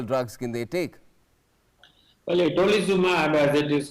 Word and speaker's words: itolizumab: It's spelled as itolizumab, but it's pronounced, I guess, as Alzumab.